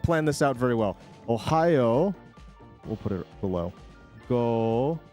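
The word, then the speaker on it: おはよう: Ohio gozai masu. But in Japanese, you tend to just throw... Oh, fuck, it's behind. Oh, I didn't plan this out. Very well. Ohio.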